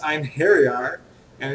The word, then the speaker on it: Einherjar: know it is pronounced I'm here we are and it is like a Scandinavian word to kind of uh